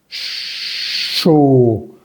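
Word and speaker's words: chaud: Por ejemplo, en la palabra show, show. Recordemos que la AU suena O. Lo vimos aquí en el segundo renglón. O, show. Y la D al final de palabras no se pronuncia.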